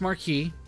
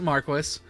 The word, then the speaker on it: Marquis: I know it's pronounced Marquee the game pronounces it Marquis uh so and Marquis is apparently an old way of saying Marquee so I'm just going